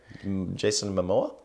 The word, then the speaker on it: Momoa: Jason Momoa?